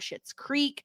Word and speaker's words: Schitt's Creek: we are talking about Schitt's Creek, talking without a G, and shit is spelled SCHITT, like the show Schitt's Creek.